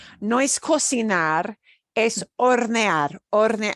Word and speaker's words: hornear: No es cocinar, es hornear, hornear. Y no se pronuncia la H. We don't pronounce the H in that. Es hornear.